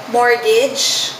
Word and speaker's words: mortgage: tama byc Okay bow mortgage silent tea Connecticut hindi Connecticut Connecticut